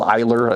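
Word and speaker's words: Eylar: So I believe it's called Eyler is how you say it, E-Y-L-A-R.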